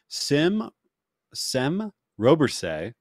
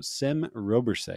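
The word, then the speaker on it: Sem Robberse: Sem Robersay, who is a starting pitcher from the Netherlands. So Sem Robersay is, I believe, how you pronounce that.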